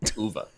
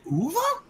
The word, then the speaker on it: Uwe: Uva. Uva. Is it Uva? Yeah. I always said Uwe.